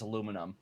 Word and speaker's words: aluminum: Actually, I looked it up. The actual correct pronunciation, the original pronunciation is aluminum. So, ha! Brits are wrong!